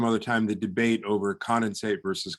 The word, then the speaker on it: condensate: So we'll have to continue some other time the debate over condensate versus condensate, although it appears that there is a bit of a preference for the first syllable being the stressed syllable, but a longer term debate, I think.